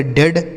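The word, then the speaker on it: dead: तो अगर ई ए के साथ क्या लिखा हो, ई ए का उच्चारण हम एक ही मात्रा भी करते हैं। ठीक है। तो इसे पढ़ेंगे डेड, हेड, ब्रेड, health, haven.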